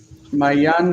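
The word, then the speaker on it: מעין: Mayan has an interesting feature in that the in closes the syllable and it's a silent silent maan.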